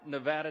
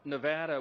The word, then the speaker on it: Nevada: So we always say Nevada, and now it's supposed to be Nevada. Just forgive us. Forgive us. We're trying to get it right, okay?